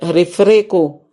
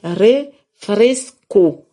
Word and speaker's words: refresco: refreco un refresco ouais refreco. Saint-Domingue dit Saint-Domingue dit refreco ici c'est c'est refresco faut prononcer bien.